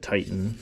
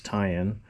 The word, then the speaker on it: Ti'an: I know some people pronounce it Titan, but it's tie-in.